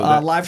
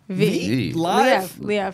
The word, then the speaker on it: Liev: So Live Schreiber is Kingpin. Live. The cast, that one I've never heard before. I've heard his name pronounced a lot of different ways. Yeah. Live is a new. Liev.